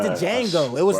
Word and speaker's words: Django: more um like the django style film would be nice d is silent what it's not django it's